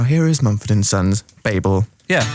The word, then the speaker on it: Babel: that help you out it's pronounced Babel like bagel fact of the day